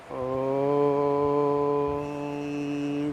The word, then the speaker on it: ओम: हमें उकार को यानी जब हम ओम बोलेंगे उकार को थोड़ा दीर्घ करना है और मकार को धीरे धीरे अपनी जो ध्वनि है, आवाज़